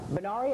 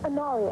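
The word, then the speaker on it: Inari: Bari, am I saying your name right? Uh it's Anari, actually. How do you spell that? I N A R I.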